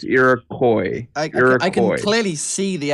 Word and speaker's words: Iroquois: But yes, the civ is not pronounced Iroquois, I get that wrong. or no, not Iroquois. It's Iroquois, like koi fish. Iroquois. You tell me it's not Iroquois? Well, that's There's no S on the end.